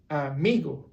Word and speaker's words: amigo: For example, in this case will be me, amigo. So you're flat on a raise your voice in me and then flat on go. Amigo. Now if you pronounce it any other way, it will sound off.